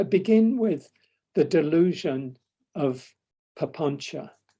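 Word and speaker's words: papañca: Papanca. There it is. The C is a ch, pronounced a ch in Pali.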